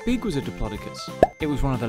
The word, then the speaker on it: Diplodocus: about Diplodocus how do you say that again deer claw duh cus how big was a Diplodocus it was one of the longest dinosaurs ever